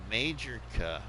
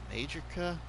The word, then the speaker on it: Majorca: They call it Mallorca, but we call it Majorca. Majorca?